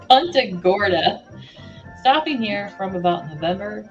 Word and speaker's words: Punta Gorda: 1915 about eight years ago I came to Punta Kunta I keep saying I keep saying it wrong Punta Gorda stopping here from about November till May snowbird